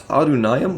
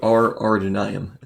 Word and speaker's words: Ar-Adûnâim: uh arduino armsmen although i've always realized i pronounce adunayam with an r but there is no r there i always call it r are denying and it's something i always have to catch myself doing and we'll start the